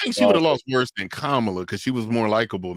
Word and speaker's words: Kamala: Was it is it Kamla or or Kamala? Kamla. It's Kamla. Yeah. Okay. I was saying it right.